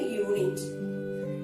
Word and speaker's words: unit: A unit. Again, it begins with a vowel letter U, but it begins with a consonant sound year.